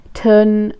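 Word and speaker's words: Tle: apparently as well like the way to say T L E like that name is um Ton. So I don't really know why you would spell it T L E if his name is Ton.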